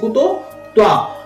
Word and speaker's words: कुतस्त्वा: হর উপর টান মানে হটা একটু দীর্ঘস্বর উচ্চারণ হবে, তাই কুত কুত কুত কুত হ, এই যে হটা আলাদা একটু দীর্ঘ উচ্চারণ।